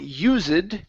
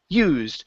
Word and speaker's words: used: so here, yeah, so instead of saying used, it's used.